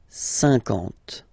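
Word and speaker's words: cinquante: Same thing here, okay, remember that you've got this QU, but then you don't pronounce the U, and then you've got the nasal, un, and then en, 50, 50, okay?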